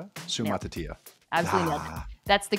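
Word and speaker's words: Suamataia: And if nothing else, you learned how to pronounce the name of that BYU tackle who I... Sumatatia.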